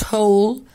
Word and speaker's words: hall: Here is the sports hall. Sports hall اللي هي الصالة أو القاعة الرياضة اللي بيلعبوا فيها الرياضة. طيب نعرف الولاد برضو ان الA لما يجي وراها L تتنطق O، فنقول sports hall.